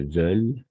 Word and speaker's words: veulent: Mes parents ne veulent, attention, ici on va tout simplement prononcer veulent, parce que E est à la fin, on ne prononce jamais.